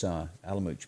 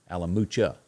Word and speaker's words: Alamucha: Everybody enjoying this Alamuch? Pronounce the A on the end. Alamucha, Wayne said.